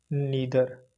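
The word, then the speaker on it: neither: हैं य distributor and नीदर आइर भी पढ़ते हैं हम इसे प्रोनंसिएशन इदर को आदर और नीदर को नादर भी प्रोनाउंस करते हैं ईच इदर एंड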